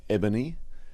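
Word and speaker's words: Ebanie: I was in the IGA the other day in a part of Ballarat, and I was served by an ebony, spelt E-B-A-N-I-E. A-N. Yeah. Ebony. Ebony. Pronounced ebony.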